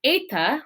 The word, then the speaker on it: eta: So remember back when I did eta, which is that long E sound, that A sound, and it looks like our letter H in the capital.